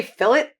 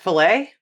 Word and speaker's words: fillet: say fillet, not fillet? Mm. You pronounce the T?